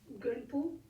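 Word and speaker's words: མགོན་པོ: Zong, la prononciation est Gunpo.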